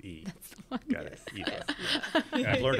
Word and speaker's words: Aoife: Well, Aoife, it's great to have you here.